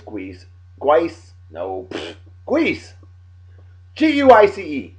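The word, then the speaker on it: Guice: Is it Guise or Guise? Nah, it's Guise.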